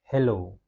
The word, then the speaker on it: hello: bilang hello ini kan terdapat dua suku kata ya ada he dan juga low. Hello. Yang mana yang lebih kalau kita buat penekanan lebih kuat diucapkan maka agak samar-samar. Tapi kalau lebih panjang dia lebih panjang. Low hello. Hello. Ya. Jadi silabel stress-nya adalah low ya.